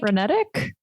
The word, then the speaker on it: frenetic: Like that first power play unit they were like frenetic. Yeah. Did I say what did I pronounce it? Frenetic. Yeah, that's the same thing. This emphasis on the syllable.